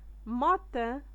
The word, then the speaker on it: matin: 1 matin matin اي مع ان فاش كتكون مع ان كتنطق ان matin.